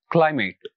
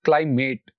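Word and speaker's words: climate: क्लाई और दूसरा मेट, तो यहाँ पे हम फर्स्ट सिलेबल पर स्ट्रेस देंगे क्योंकि ये नाउन है और दो सिलेबल्स वाला है। तो it will be pronounced like this क्लाइमेट, नॉट क्लाइमेट, it will be like this क्लाइमेट।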